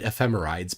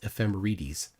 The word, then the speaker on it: ephemerides: I used to until yesterday I said ephemerides, but apparently the correct pronunciation is ephemerides for plural.